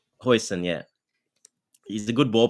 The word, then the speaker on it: Huijsen: Is that how you pronounce it, Huijsen? Huijsen, yeah.